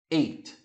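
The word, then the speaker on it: ate: um pouquinho você já sabe que aqui eu pronuncio Eight então eu falaria assim ó vou aumentar aqui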